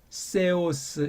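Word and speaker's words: θεός: 개 하고 끊고 그렇죠? 네 하고 끊고 그렇죠? 세오스 이렇게 돼 있잖아요. 그 엡실론자랑 오메가자가 모음이 이렇게 붙어 있어요. 자, 이렇게 붙어 있으면 일단 떼세요. 떼고 발음하면 돼요.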